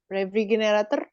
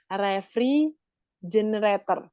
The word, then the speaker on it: refrigerator: Store it in the refrigerator. Karena G kan bacanya J. J, oke. Sorry, Miss. Refrigerator. Bukan generator. Refrigerator.